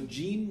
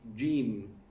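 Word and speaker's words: جيم: Like jim, gg is wrong. It's jim, it's not jim. Ja. Edja, ash, edja, ja is wrong.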